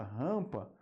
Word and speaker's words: rampa: a m aqui ó Observe que o m não é pronunciado na palavra rampa a gente tem a apenas isso aqui ó an tá o m